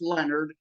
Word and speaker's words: Lenard: Again, it looks like Lenard, but it's pronounced Leonard, and there's no O in it.